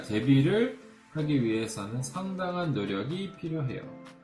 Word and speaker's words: 데뷔: くいので , みんな 데뷔, 데뷔 の B で発音してます .